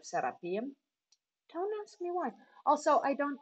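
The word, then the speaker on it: Serapeum: pyramid we went to the sarapium or the setupium as most Egyptian people will call it but I prefer the pronunciation of sarapium and why also I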